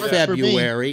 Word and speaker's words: February: oh I hate that it's not February it's February look how it's spelled there's an are you in there it's February not February or February is February happy new years or